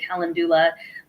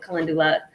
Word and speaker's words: calendula: Some people pronounce it calendula, but I call it calendula.